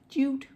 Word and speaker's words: jute: plan and I just Googled what is Jud and I guess it's called Jude um or pronounced so it's basically a